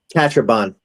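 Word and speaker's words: Catrambone: A Ben Salem police officer, John Catrambon, is that how his name is pronounced, Chris? Catrambon. Catrambon.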